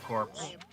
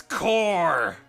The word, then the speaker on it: corps: the galaxy of pegasus corpse core corpse it's core the p is silent it really is silent